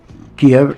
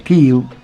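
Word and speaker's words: Kyiv: Eh, de hecho, la Rus de Kiev, Kiev, la capital Ucrania pronunciada correctamente es KW.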